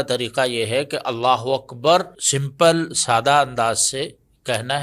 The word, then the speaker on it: اکبر: بہت زیادہ ضروری ہے۔ اکبار بھی نہیں کہنا، اکبر۔ اچھا، یہ بھی کرتے